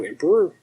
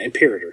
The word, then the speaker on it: Imperator: It says Imperator. What do I know? Did they change their name, maybe? Oh. I just write these things. I don't read it. Imperator Furiosa. No. Oh, wow, I'm saying it wrong. Yeah, Imperator. Imperator. Okay. If I had it in front of me, Imperator.